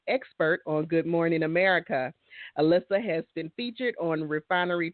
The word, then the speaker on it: Alissa: It is spelled Alissa, but my mama said it's pronounced Alissa.